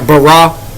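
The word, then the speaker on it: ברא: in the Hebrew uh it's pronounced something like barah and uh it's deform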